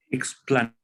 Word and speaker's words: explanat: Te lo llevas a la primera, a la primera sílaba, porque aquí no tiene la marca de larga, ¿no?